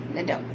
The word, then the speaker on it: LeDoux: Capital L, little E, capital D, O-U-X, spells Liddell.